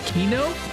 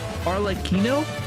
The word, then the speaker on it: Arle Kino: Her name is pronounced Kino. Like Kino, the phrase for excellent cinema. Arle Kino. Like Kino like pronounced like this.